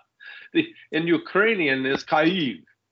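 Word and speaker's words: Kyiv: know I don't know because that's the Russian pronunciation the in Ukrainian is khaib right not key so think about this they're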